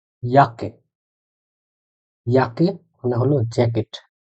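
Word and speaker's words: Jacke: এখন আপনাদের মনে প্রশ্ন আসতে পারে যে কে বলা হয় ইয়োট, তার মানে এই শব্দটার উচ্চারণ হওয়া উচিত ছিল ইয়োট আকে, সমন্বিত হওয়ার কথা। কিন্তু একটা জিনিস লক্ষণীয়, সেটা হলো অক্ষরের উচ্চারণ আর শব্দের উচ্চারণ সবসময় সেম নাও হইতে পারে।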